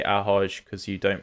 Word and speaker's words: ahoj: It's like hi or hello, but in Slovakia we say ahoj because you don't pronounce it well, but I don't mind if you don't speak it like it's I.